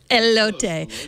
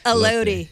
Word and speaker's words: elote: Do you know if I pronounced that right? Elote. Elote. Thank you. Elote.